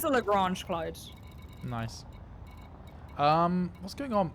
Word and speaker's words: Lagrange: But I believe the person was Italian, and then his name is pronounced in French, and it became very confusing. So I think it's a Lagrange cloud.